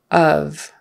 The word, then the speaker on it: of: color Olive um and but of is not really an o sound it's more like a u a short U of let's see that